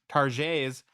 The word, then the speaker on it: Target: The T is silent.